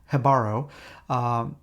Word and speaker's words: Jibaro: Jibaro, and I did check that J is pronounced with a H, so it's Jibaro.